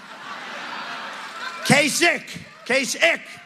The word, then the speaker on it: Kasich: Kasich. Pretend it's a K.